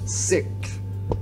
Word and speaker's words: SikTh: I always mess up how to say their name because, like, mentally I want to say SikTh, when actually the name is SikTh. So pardon me, guys. SikTh.